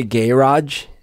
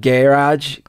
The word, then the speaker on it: garage: smart or something so i always say gay raj uh for a garage why because there's a elton john's song where he says by the motorway and so he's just kind of like gay raj and so it sounds like gay raj and so i always